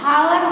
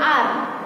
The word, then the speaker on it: hour: Okay, जैसे कि यहाँ पे हम HOUR है तो इसको हम हावर नहीं बोलेंगे, क्या बोलेंगे, आर।